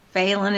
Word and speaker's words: Phelan: Reno or felon so um faen is p h l n thank you that's right it's it's spelled felin p h l but not fail but it's pronounced failen faen uh so remind the audience though